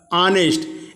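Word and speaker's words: honest: यहाँ पर शब्दों का उच्चारण में एच, ये जो सामने एच है वो साइलेंट है। देखिए जैसे कि आवर, एयर, ऑनेस्ट, एच से प्रारंभ हुआ है लेकिन एच हमको पढ़ नहीं रहे हैं, उच्चारण हमारा एच गायब हो जा रहा है, साइलेंट हो गया है।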